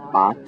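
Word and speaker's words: 八: means um it's the word b um or ba believe that's the correct pronunciation um ba in Mandarin and Bot in Cantonese and um there there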